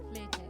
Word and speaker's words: flutist: No, in America it's flutist. Flutist. And in the UK it's always the way, isn't it? The UK and the US, we've always got a different way of pronouncing things.